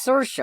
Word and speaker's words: Saoirse: Have I been mispronouncing this name wrong the whole time? Hold on. One sec. It's Saoirse.